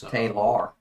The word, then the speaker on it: Taylar: Dustin Arant, and how do you say it? Taylar. Is that Taylor? It's Taylor.